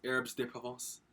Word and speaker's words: herbes de Provence: And we got, I had to watch a video to learn how to pronounce this. It's herbes de Provence.